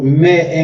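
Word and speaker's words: mè: Se pronuncia me, la cabra, pero también esa letra M con la E se pronuncia me, pero me en creol.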